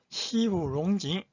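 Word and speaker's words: 西湖龙井: 시후롱징 따라하세요. 시후롱징. 자, 중국 발음 모르신 분들은 제가 한국어로 시후롱징 이거 따라하시고, 그 다음에 한자 발음은 서호용경차.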